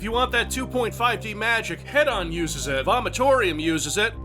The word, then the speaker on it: Hedon: Yeah, I pronounced that Hedon. Yeah, that's right, I pronounced the thing correctly Head because...